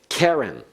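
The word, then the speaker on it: קֶרֶן: verbs he was able heron notice the accent on the first syllable it's a feminine noun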